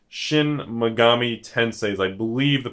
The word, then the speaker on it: Shin Megami Tensei: Some people call it Shin Megami Tensou, but I believe it's pretty much Shin Megami Tensei.